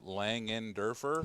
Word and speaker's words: Langenderfer: uh it's real simple my last name's langenderfer there's no hidden syllables just say it and spell it it's really easy yeah is that how